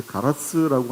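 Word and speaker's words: 唐津: 한일 해저 터널도 여태까지는 이제 막았지만 이게 가라스라고 하는 데가 사실은 당나라 때 했던 토구가 우리나라도 당진이고 거기도 똑같이 당진이라고 쓰면서 읽는 걸 가라스라고 읽는데 후쿠오카 바로 옆인데 거기서부터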